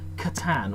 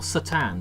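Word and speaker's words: C'tan: They are sort of controlled by these vast demonic entities known as katan or satan depending on how you want to pronounce them.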